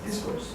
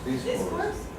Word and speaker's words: discourse: Discourse. Discourse? The accent in the D.